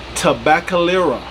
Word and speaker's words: Tabacalera: But Tabacalera GTO Dominicana.